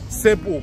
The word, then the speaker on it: Себу: городок известен вернее даже остров известен как себу потому что так его стали произносить Испанцы и распространили на все другие языки этот остров как себу с ударением на гласную самую последнюю поэтому Ну можно сказать